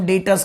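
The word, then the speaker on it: debtors: पढ़ी भी नहीं हुई, तो उसे हम डेटर्स कहेंगे। बी साइलेंट है, अगर उसने हमको एक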